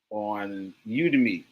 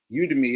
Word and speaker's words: Udemy: Put put something in my store on Udemy. Udemy. It's spelled the a Y EMI.